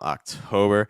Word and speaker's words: October: it's like September um October for that o sound you want to watch out for it because it's not oh it's oh oh OCT October o octo October it's